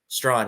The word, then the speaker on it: Strachan: I don't know how to pronounce his last name. Strawn, excuse me. Oh my goodness. I've only written it. I'm a print reporter, bro. Mike Strawn is 3rd team.